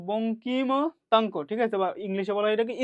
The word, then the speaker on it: বঙ্কিমতাঙ্ক: বের কর এটাকে আমরা বলি রুটওভার বিটা ওয়ান বঙ্কিপতাঙ্ক সরি আমি উচ্চারণ করতা আমরা যেহেতু এটা মেনলি উচ্চারণ বঙ্কিমতাঙ্ক ঠিক আছে ইংলিশে বলা এটা স্কিউস ঠিক আছে